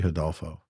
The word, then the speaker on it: Rodolfo: I wouldn't be surprised if, and I'll say it properly, Rodolfo. I'll take the Portuguese, the R out and replace it with the, hence why we'd be Huff Talk.